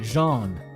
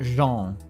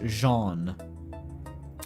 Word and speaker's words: Jean: check storage closet D she pronounced it Jean okay so it's kind of like it's vaguely French pronunciation Jean it's not Jean it's Jean yeah I was with Grace